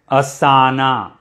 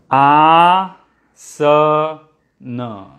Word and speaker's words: asana: so no many people many non-indians pronounce it as asana okay i'll remove this asana it is not asana it is ah so no okay ah so no